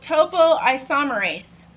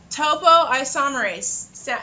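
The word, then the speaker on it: topoisomerase: your replication fork called Topo isomerase Topo isomerase it's spelled just like it sounds t o poo isomerase and it helps release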